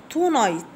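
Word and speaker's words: tonight: الليله تو نايت، تو نايت، تو تي او نايت، ان اي جي اتش تي، والجي اتش حروف سايلنت يعني صامته، بختصر كلمه صامت في حرف الصاد.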